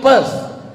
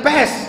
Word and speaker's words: Perth: I am going to Perth. bukan pes.